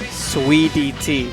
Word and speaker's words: Suidt: SweetyT.